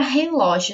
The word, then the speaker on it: relógio: Então, qual é a forma correta de pronunciar essa palavra? Relógio, isso a gente já sabe, certo? Então, nós descobrimos que o ló é a sílaba mais forte, relógio.